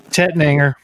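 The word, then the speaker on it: Tettnanger: And hops are Tet Nang. And it says, Yeah. how do you pronounce it? Tetnanger. Okay. And then malt Pilsner. Tetning, yeah.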